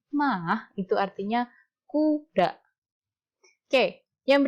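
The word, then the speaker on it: 马: ini saja yang dipakai ya ini dipakai artinya bacanya mah itu artinya kuda ke yang berikutnya Hai Mah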